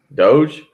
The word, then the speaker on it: Doge: as mark pointed out dodge coin just kind of just completely in on dodge coin up to 40 cent this morning not even how you pronounce it not even close doge yes hey look nobody knows